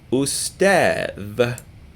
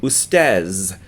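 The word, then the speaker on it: أستاذ: You will call me ustadh, like this, which is professor or teacher. But most people, most native speakers, will pronounce this word ustaz instead.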